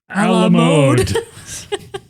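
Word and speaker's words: à la mode: Some guy from Minnesota is like, I call this ice cream A la mode. It rhymes with commode.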